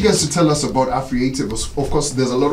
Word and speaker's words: Afreative: Now they've got, you know, something that I was trying to pronounce so well, but I kept saying it badly. Afreative.